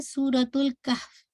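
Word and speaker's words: سورة الكهف: तो जब आप इस सूरत की प्रोनाउंसिएशन करें तो आपने कहना है सूरतुल कहफ, ठीक है, सूरतुल कहफ।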